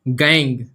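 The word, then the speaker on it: gangue: गंगूबाई नहीं लिखते हैं, गैंग ही लिखते हैं, लेकिन स्पेलिंग गंगू हो जाती है। देखिए यह गैंग है, क्या है, गैंग।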